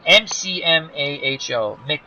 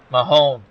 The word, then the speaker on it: McMahon: McMahon. McMahon.